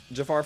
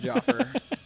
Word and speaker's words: Jafar: what's a fun fact it's spelled like Jafar from Aladdin but it's pronounced Jaffer is that a fun